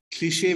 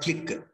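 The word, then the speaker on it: cliché: has lost its freshness cliche meaning this the the way we pronounce this word c-l-i-c-h-e is cliche it is not click cliche cliche what is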